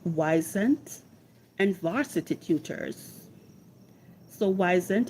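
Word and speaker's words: Wyzant: So the platforms that can be used to find tutoring jobs are platforms like Weisent and Varsity Tutors. So Weisent is spelled W Y Z A N T and Varsity Tutors.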